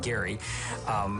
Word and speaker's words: Gerry: The word comes from 1812, and Elbridge Gerry, it's kind of weird that we call it gerrymandering because he pronounced his last name Gary, but he signed into